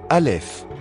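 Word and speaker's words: א: Première lettre, Aleph. Valeur numérique, 1. Retranscrit ici par une apostrophe, puisque c'est une lettre qui ne se prononce pas vraiment, car c'est un mouvement de glotte arrière.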